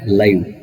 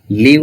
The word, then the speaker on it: live: The word live, live, and we can pronounce it as live. Live means remain or alive. Live means inanimate or not dead, like this.